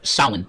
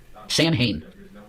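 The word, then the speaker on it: Samhain: I want you to look up what salin is about or you know, as we say it as Americans, San Hayne. S A M H A I N Sam Hayne, but the way you pronounce it is Salin.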